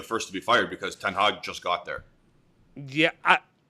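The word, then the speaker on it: Ten Hag: how do you say i always say i was messing up rag it's it's 10 hog you meant 10 hog oh okay because ryan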